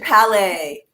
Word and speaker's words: Palais: Oh, Richard Palais. Rhymes with ballet.